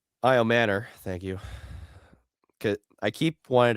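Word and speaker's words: Ayomanor: I Manor. Thank you. I keep wanting to pronounce his name. Uh I I'm not Yeah, I get it. It It's I Manor.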